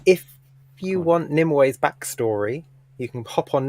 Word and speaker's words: Nimue: I'm not going to like research Nimue. her. any further. Just Nimue. Nimue. Nimue. Nimue. Like Nim and Way.